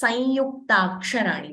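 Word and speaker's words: संयुक्ताक्षराणि: Or in Sanskritam, they are called Samyuktaksarani. Also, another way to say it is Samyuktaksarani. Both are right.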